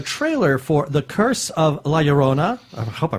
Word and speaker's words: La Llorona: And then also there was a trailer for The Curse of La Llorona. I hope I pronounced that right.